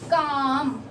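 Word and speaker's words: calm: एल, ठीक है, एल कहाँ साइलेंट होता है, जब अपन लिखते हैं काम, काम यानी शांत, आराम से, ठीक है, तो काम जब बोलते हैं तो ये एल साइलेंट है।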